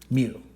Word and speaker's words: mu: It's actually a Greek letter, and that Greek letter is pronounced mu.